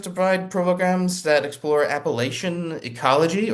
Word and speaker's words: Appalachian: The mission of the U Mountain Center is to provide programs that explore Appalachian ecology, or Appalachian, back when I lived in Pittsburgh, we would pronounce it, Appalachian ecology, culture, and the arts while promoting personal and community wellness.